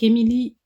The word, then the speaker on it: Emy Lee: Donc Émilie, donc ça s'écrit E M Y plus loin.